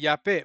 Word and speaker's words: Japheth: He blessed Japhet and his sons, making them entirely white. Japhet. Now you heard him pronounce it Japhet, because there was no such thing as the letter J.